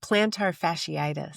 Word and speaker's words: plantar fasciitis: Can you can you get the correct pronunciation for our listeners? Yeah, plantar fasciitis.